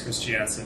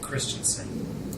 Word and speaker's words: Christensen Forster: Her married name was Christiansen, and then when she got divorced, she started pronouncing it Christensen. And now she's married again, and she goes by Christensen Forster.